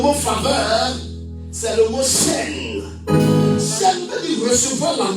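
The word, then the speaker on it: חן: Le mot grec qui définit le mot faveur, c'est le mot chaîne.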